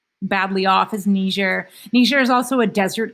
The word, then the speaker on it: Niger: tower this is niger in french it's a french-speaking country in in africa uh they call it niger and niger you can